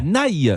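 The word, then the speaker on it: Nay: République à naï à naï mais alors na ça s'écrit comment N a y N a y comme Catherine ne mais là on dit na voilà les paris l'app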